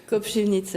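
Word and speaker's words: Kopřivnice: Alors comment on prononce Koprivnice en tchèque ? Koprivnice. Voilà, c'est un peu mieux.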